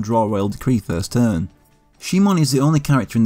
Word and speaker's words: Shimon: Also, is it Shimon or Simon in the dub? I know Shimon is just the Japanese pronunciation, but that's what they go with in this. But the 5 seconds I played of Forbidden Memories years ago had him as Simon.